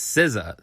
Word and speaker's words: SZA: up and I was like how do you pronounce her name and I was like seasons and then just now I was calling her